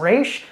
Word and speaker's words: Ra's: And of course, Ra's al Ghul. By the way, guys, let us know how you pronounce Raz's name down in the comments. I kind of go between Ras and Raish.